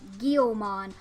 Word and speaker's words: Guilmon: editing this video, and I remember how to pronounce the Digimon's name. It's Guilmon. Why did I forget that's how you pronounce his frickin' name? So yes, Keith's Digimon is Guilmon.